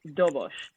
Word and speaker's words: Dobos: Okay, Dobosh. So one of the places, Dobosh. It's spelled Dobos.